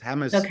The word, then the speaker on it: Hamus: response earlier Mr uh hams uh is that how you pronounce your name yes I'm I'm used to it being pronounced many ways hamus is is the way we do it perfect um but yeah